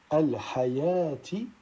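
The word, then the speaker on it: الحيوٰة: Ensuite, dans ces deux cas, on ne prononcera pas le waw tel que dans au-dessus al-hayati ou bien as-salata.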